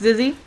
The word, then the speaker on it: Zizzy: have asked their I I try to ask the players how to say their names and um I've been told it's zizzy zizzy hasn't actually sent me